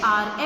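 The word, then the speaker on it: hour: Seventh sentence, he came here dash R ago. He came here dash R ago. Here H is silent, so what article we will write?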